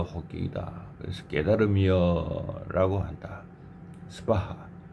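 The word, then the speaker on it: स्वाहा: 스바하. 자, 이거 발음은 이 스는 아주 작게 하고 바하 이렇게 스를 갖다 붙이죠. 그냥 바하 스바하 라고 발음해야 됩니다.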